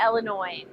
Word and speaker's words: Illinois: We used to say Illinois and yeah, a lot of people want to pronounce that extra S, but we never did when I was a kid and now either really.